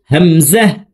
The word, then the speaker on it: همزة: হামজা হামজার উচ্চারণ হলকের শুরু থেকে পড়তে হবে, হামজা।